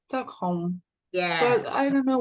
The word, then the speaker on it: Stockholm: from Stockholm was here Stockholm Stockholm so basically the stress syllables goes in the first syllable a stockh home okay